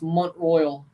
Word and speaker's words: Mont-Royal: Mont-Royal, is this how it's said? Yes. Yes. It's not. It's Mont-Royal because it's French, of course.